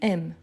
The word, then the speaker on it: aimes: c'est justement ici tu la marque du tu c'est le S ici à la fin je ne les prononce pas donc je dis j'aime je ne prononce pas le E parce qu' il n'y a pas d'accent ici non plus donc la prononciation de M m ici c'est la même donc je dis j'aime